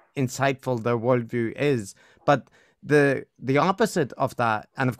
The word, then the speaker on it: Thi: But Chris, I need to jump in and correct you. It's pronounced, please.